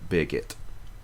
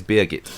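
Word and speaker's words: Birgitte: her big no no her name is beit and I know the pronunciation that because my mom had a very good friend who lived in Germany whose name was beit and it was spelled the same way um it's not far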